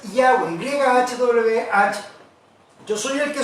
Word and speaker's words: Yahweh: soy, también conocido como Jehová o Yahová. Diferentes pronunciaciones para lo que está conocido como el tetragramatón o es difícil la palabra, pero es Yahweh, YHWH.